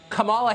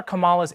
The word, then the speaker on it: Kamala: um host on Fox her name is pronounced comma like the punctuation mark La comma okay seriously I've